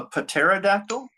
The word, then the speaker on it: pterodactyl: I've got a ter a pterodactyl. Is this a pterodactyl with a cowboyter? He's going to ride him somewhere. That's what cowboys do. They ride things. The P is silent.